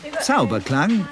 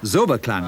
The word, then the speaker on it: Zauberklang: And finally, Zauberklang, or Zoberklang as the Americans say.